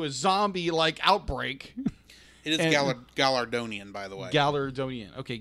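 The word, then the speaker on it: Galardonian: It is Gallardonian, by the way.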